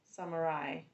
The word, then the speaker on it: samurai: oh Sam Marie Rye Samurai first syllable sum second syllable ma um ah third syllable Rye I not yeah I